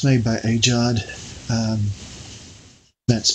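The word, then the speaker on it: AGEOD: of World War I and it's made by aad um that's spelled ag ag g e o d and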